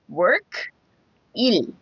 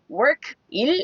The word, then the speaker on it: 일: So if you say it as work, 일, 일. So that E is a little soft. E, like ear.